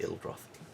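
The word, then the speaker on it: Ill'droth: capital city uh the yeah gotta for actually ill droth my bad a cur droth how do I spell it actually would be an ill droy uh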